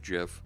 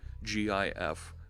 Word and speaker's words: GIF: The creator of the graphics interchange format, GIF, does call it JIFF because it's a hard G, JIFF. But it's graphics, it's a soft G. So I get why, and I know it's wrong. I'll call it GIF for right now.